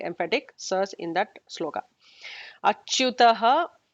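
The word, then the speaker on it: अच्युतः: So, achyutaha with the ending visarga. So, we have to pronounce that visarga very clearly.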